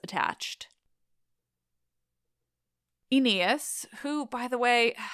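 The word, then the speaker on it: Oineus: satisfying than versions with less memorable names attached enias who by the way it's just hard his name is spelled o-i n-e-u-s it doesn't matter he gathers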